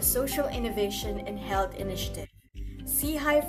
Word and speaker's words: SIHI: Sei for short, pronounced as se which means upward forward looking.